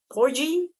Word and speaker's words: Porgy: Porgie? Porgi? I'm forgetting it. Is it G or G? God, I hate when I'm tick Tickle me again. Looks like porgie. Porgon. Porgie. Kind of like rhymes with corgi.